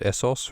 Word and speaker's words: Essos: The fact that Essos rhymes with across, or almost, is a gift to Game of Thrones rappers everywhere.